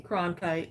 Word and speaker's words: Cronkite: Cronkite.